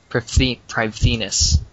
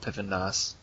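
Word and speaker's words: Prifddinas: Privethinus, how it's actually pronounced. They still call it Pivendus.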